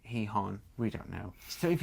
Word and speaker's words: Gijón: The captain is saying it Gijon, but apparently locally they say it Gijón.